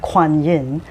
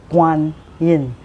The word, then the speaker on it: Guan Yin: and some of um some people call her Quan Yin. Uh both are the same. Uh for me, I pronounce her name in Chinese Mandrin um as Mother Guin.